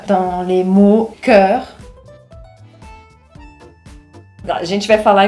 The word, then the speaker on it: cœur: Porque se você não quer falar nem corpo, nem Cairo, tem que falar Cœur. Então repete aí. Cœur, cœur, cœur.